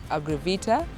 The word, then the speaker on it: Agrivita: a friend luge Moi he's a founder of agravita yes that is the right pronunciation they've been telling us much more what